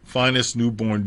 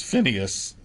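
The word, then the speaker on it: Phineas Newborn: All of the young men from Memphis, their king was Finest Newborn Jr., who more often in his pop years was Phineas. The initial pronunciation was Finest.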